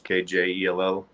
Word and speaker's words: Kjell: It's Swedish, Kjell. And it pretty much just was always jelly this, jelly that, and became Jellyman shortly after. Nice, but it's pronounced Chell, right? Correct.